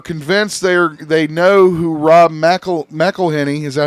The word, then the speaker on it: McElhenney: Deadpool and Wolverine fans are convinced they know who Rob McElhenney, is that how you say his name?